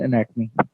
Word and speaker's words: anatomy: तो जी आज का हमारा टॉपिक है इंट्रोडक्शन टू ह्यूमन एनाटमी।